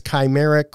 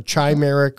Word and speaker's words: chimeric: I think it's chimeric or chimeric or chimeric. I've heard it chi, chi, or ka, and I really don't care anymore.